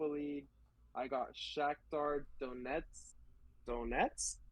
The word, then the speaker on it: Donetsk: Donetsk, You know, you said it right.